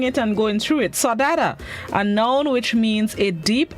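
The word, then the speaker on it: saudade: fits this morning's word of the day is sodada sadada it's spelt s-a-u-d-a-d-e it is a known which means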